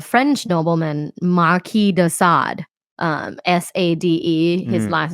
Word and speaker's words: Sade: Sadism come from a French nobleman, Marquis de Sade, Sade. His last name is Sade. It's spelled as Sade, but it's pronounced in French as Marquis de Sade.